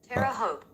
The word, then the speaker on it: Terre Haute: Terre Haute. Terre Haute. Terre Haute. Terre Haute, like you Terre Haute up? If you got a home from the club? Terre Haute.